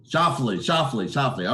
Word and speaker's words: Schauffele: Schauffele.